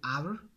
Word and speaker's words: hour: An honest man, honest produces even if there is H. that produces oil sound. H is silent there, that's why N is used there. Next word is an hour.